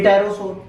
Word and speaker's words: Pterosaur: तो क्या पढ़ेंगे पि टेरोस पढ़िए कह रहे टायरो सोर पढ़ो पहले बता दो पी साइलेंट है ना लिखो सर अंग्रेजी